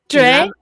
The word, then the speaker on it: Dray: Ellen do I pronounce your name right I pronounce your name DIY what Dre Dre sounds cooler sorry I pronounced your name